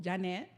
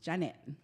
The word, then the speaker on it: Yaneth: spelling of it and it is pronounced Jeanette not not Janice right not Janet yes because everybody will